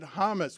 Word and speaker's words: James: I DON'T I DON'T THINK THAT anyone listening to this would read the word James and pronounce it Hamus.